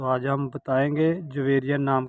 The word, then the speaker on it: جویریہ: नाम है जवेरिया। जवेरिया नाम के इंग्लिश में स्पेलिंग है JAVERIA, जवेरिया।